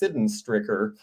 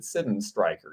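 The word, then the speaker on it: Sydenstricker: called Sidden Stryker, which for the last 30 years I have pronounced Sidden Stricker, but it was made in Massachusetts, and that was a guy's last name, and somebody from there said, I went to the factory and they pronounce it Sidden Stryker.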